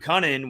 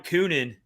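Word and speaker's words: Kunin: And, I mean, me and Rich couldn't even pronounce Luke Cunnin's name right at first. So that's how unknown Luke Cunnin was. Episodes. We were calling him Coonan.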